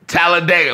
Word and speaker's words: Talladega: at least twice for red tallor tallor nights Talladega how you say it I'm glad you guys are witnessing Big C's famous mess ups how you say it how you say it again Talladega Talladega what I say what was the last name